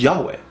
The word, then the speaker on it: Yahweh: Why do we know it's Yah? Because hallelujah. Right? Eliyahu. All those Yahs showing up on all those names. Okay, so Elijah, Eliyah. Those Yahs tells you the first syllable of God's name is Yah. The last part we're not sure.